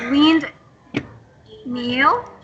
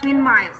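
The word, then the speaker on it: windmill: Wind meal. It's not windmile, okay?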